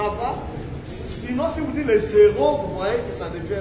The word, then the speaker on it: héros: On n'accorde jamais. On ne dit jamais les héros. J'ai entendu dire les héros nationaux. Non. C'est les héros.